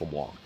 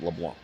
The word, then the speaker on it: LeBlanc: and it's not pronounced leblanc the c is silent my ex-brother-in-law actually his last name is leblanc you pronounce it leblanc just anybody else i